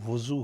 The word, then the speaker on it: وضو: لفظ پوچھا ہے کہ اس کا صحیح تلفظ کیا ہوگا، وضو ہوگا کہ وضو ہوگا. تو محترم منصور علی صاحب بہت شکریہ ہمیں پیغام بھجوانے کا، اور اصل جو لفظ ہے وہ وضو ہوگا.